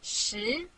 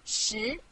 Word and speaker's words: 十: This is its syllable, 十. Repeat after me, 十.